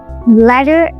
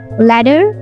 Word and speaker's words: letter: Unlike a regular T, which is voiceless, the flap T is voiced, sounding similar to a D sound, letter. They often sound same in American English due to flap T.